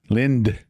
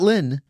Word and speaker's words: Lind: Not Lynn. Lind. Lind. Lind. Okay. One syllable. Like land, but Lind. Correct. Yes. There you go. But the problem is there's a Y, so it drags it out.